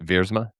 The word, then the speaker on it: Viersma: the HYROX Life for clearing up the proper pronunciation so I don't mess up his name any further. Is it Viersma?